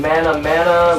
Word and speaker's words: Manamana: somebody and they're like how do you say the name mana mana my name and they no not mayonnaise it's phenomenal right you know